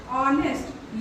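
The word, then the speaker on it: honest: नेस्ट हुआ हम नेस्ट अगर य साइलेंट नहीं रहता तो ये क्या होता नेस्ट लेकिन हम इसको क्या पढ़ते है ऑनेस्ट यट साइलेंट हो जाता है य क्या हो जाता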